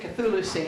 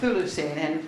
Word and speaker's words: Chthulucene: Yeah, well, note I didn't pronounce it Cthulucene, but Thulucene, and went to the phonic, not to Cthulhu.